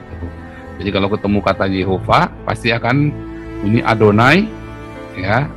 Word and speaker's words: Jehova: Jehova tanah memang tulisannya transliterasinya cara bacanya memang Giova tanpa tanda baca pun itu akan bunyinya Jehova Ya aku kan Bukannya